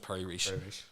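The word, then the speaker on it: Piri Reis: r i s that's that's it but it's pronounced Perry re and the pray re map was mapped in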